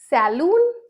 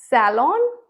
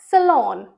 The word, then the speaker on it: salon: Saloon? Saloon? It's salon or salon. अब आप देखिए इनमें स्ट्रेस देखिए कहाँ आ रहा है. Salon, सैफ पे पहले आया, फिर salon, लॉन पे, सेकेंड syllable वर्ड पे आया. तो इसे आप कैसे भी बोल सकते हो, salon और salon.